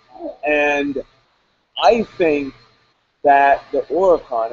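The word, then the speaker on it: Huracán: You take Huracan. the H out. Well, yeah, Huracan. it's Ura. Huracan.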